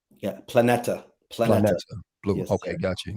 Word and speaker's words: Planeta: Um, and correct me again if I'm pronouncing the name of the book right. It's Planeta. Yeah. Planeta.